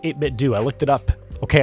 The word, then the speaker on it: 8BitDo: But today I want to talk about the 8BitDo, which it is pronounced 8BitDo.